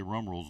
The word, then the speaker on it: Rumrill: We're going to call it Rumrill's Nut. Did I say it right, Rumrill? Yeah.